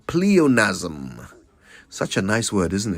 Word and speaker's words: pleonasm: question now that type of redundancy is called pleonasm such a nice word isn't it pleonasm p